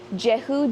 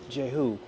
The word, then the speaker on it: Jehu: Jehu Jones. Jehu. Jehu. First African American Lutheran pastor in the U.S., founder of the nation's first African American Lutheran congregation. Wow. What are the origins of Jehu?